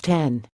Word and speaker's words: X: ATT store acknowledged that the official pronunciation was 10 but he hadn't made a habit of correcting wayward customers it's called the 10 but customers say X he explained and we